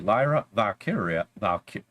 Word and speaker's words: Lyra Valkyria: Promise you, Lyra Valkyria.